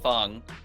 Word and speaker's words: Fong: It's supposed to be Fong, but this is for Cantonese people that might understand. The spelling is not always the sounding. So Fong, some people spell it F-O-N-G, and some people spell it like Fang.